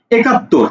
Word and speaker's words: একাত্তর: একাত্তর, দেখো তুমি বলছো এ কাত, একাত্তর, কাত তর, তর, একাত্তর।